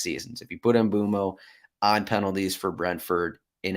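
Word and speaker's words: Mbeumo: But some things that stood out to me was Brian Mbuemo here is high up. Mbuemo. I've been saying his name wrong for a couple years, but he is high up this list.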